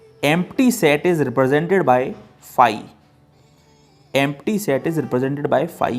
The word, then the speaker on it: phi: सेट is represented by फाई। Empty set is represented by फाई, ये होता है फाई का सिंबल, इसे हम कहते हैं फाई, PHI, फाई, we will pronounce it फाई।